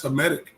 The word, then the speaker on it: Hamitic: Hamitic or Hamitic? How do you say that? That's Hamitic.